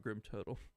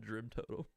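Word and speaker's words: Grimtotem: Kurog Grim Totem, not Drim Totem.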